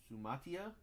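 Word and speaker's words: Suamataia: All right, Jackson Powers Johnson and a Kingsley Sum Sumatia is how you say it.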